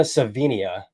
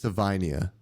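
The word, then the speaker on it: Savaiinaea: tackle so uh I'm not gonna butcher this pronunciation We we played it before we got on Jonah savenia uh from Arizona who I think is better than I think you said it was Savania Savania you're right Savania yeah yeah you're right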